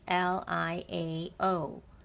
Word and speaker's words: 料: tone in in and the word Liao is l-i-a-o with the fourth tone put above letter A l-i-a-o pronounced as Liao with the fourth tone Liao Liao Leo Liao Liao